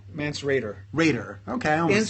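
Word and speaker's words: Mance Rayder: Mance Radar? No. Mance Raider.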